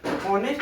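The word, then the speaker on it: honest: हालांकि आपको देखने में लग रहा है ये कॉन्सोनेंट है, लेकिन ये दोनों साइलेंट है। इसको जब हम उच्चारण करेंगे ऑनेस्ट और आवर ही होगा, इसीलिए यहाँ पे हम लोग एन ही लगाएंगे।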